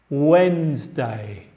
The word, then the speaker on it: Wednesday: Fíjate que este no está pronunciado nada como se escribe, porque el inglés no es fonético. Wednesday, Wednesday.